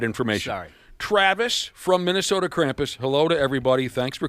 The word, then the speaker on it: Krampus: So, and and we have been pronouncing it incorrectly. We've been calling Krampus. You told us off air it's Krampus.